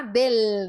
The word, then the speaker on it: del: agora ide isso e fazendo direitinho esse L tá del não é del não é del você tem que fechar esse e e pronunciar forte esse L del del não seg